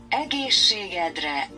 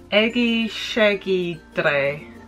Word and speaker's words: Egészségedre: Now, the correct way to say it is this. Egészségedre. And the way I said it was this. Egészségedre. Egészségedre. Which apparently means onto your whole ass, or your whole ass, or something with ass, basically.